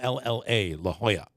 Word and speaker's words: La Jolla: The beach in San Diego called La Jolla, I believe. Yeah. La Jolla Cove. Spelled with Jolla, La Jolla. 2 L's, that's a Y sound, La Jolla.